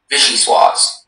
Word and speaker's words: vichyssoise: Vichyssoise.